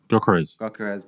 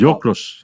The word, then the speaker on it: Gyökeres: I hear from my Balkan friends that a lot of people mispronounce his name. Like I just can't quite. I keep saying Gyökeres. It's Gyökeres, something like that.